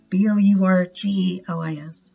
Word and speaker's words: bourgeois: Their aim was to help stop the war and vent frustration with the nationalists, slash, I think this is how you say it, bourgeois, I can't say that, B-O-U-R-G-E-O-I-S, bourgeois, conventions.